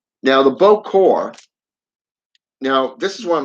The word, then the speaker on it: bokor: I should say the Bokor is pronounced Bo-Kor, as in Bo-Core.